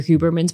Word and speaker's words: Huberman: I did hear once actually on the Andrew Huberman's podcast. Huberman, am I pronouncing his name right?